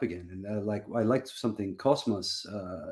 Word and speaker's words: Cosmos: You say Cosmos. Because you pronounce. There's a strange thing with how Greek works, but that S becomes in front of an M becomes as like a Z sound.